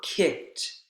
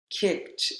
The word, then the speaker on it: kicked: where for example for kicked kicked instead of adding the consonant sounds k and t students will add another syllable kick ed kick it two syllables rather than keeping it